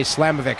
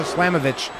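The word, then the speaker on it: Slamovich: slavovich against Mercedes Monet I don't know why my brain always wants to say slamovic I probably said it wrong more than I've said it right on the show but it's Masha slamovitch going up against Mercedes Monet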